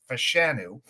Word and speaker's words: Fashanu: Uh, that's how he wants his name pronounced as Fashanu.